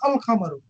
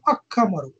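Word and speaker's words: القمر: Whereas for the lunar letters, no such assimilation takes place with the lunar letters. For example, al-qamar, al-qamaru, the moon. It is pronounced as al-qamaru. It is not pronounced as akkamaru.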